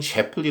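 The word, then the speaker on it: Shapley: 로이드 샤블리 교수 의 샵들이 베이 또는 셰프 리 라고 발음하기도 합니다 그다음 에코 일원이라는 그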